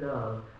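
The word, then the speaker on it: Lowe: Love. L-O-W-E, but in French it's pronounced love.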